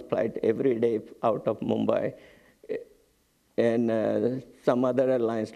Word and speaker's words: Mumbai: both by the way Bombay was the British pronunciation but local people always call it Mumbai so this change the